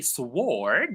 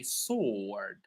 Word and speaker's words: sword: So we never say sword. We say sword. Right? It's a long O. Sword.